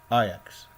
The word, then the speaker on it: Ajax: Sometimes you think it's like AX, but it's not AX, it's Ajax.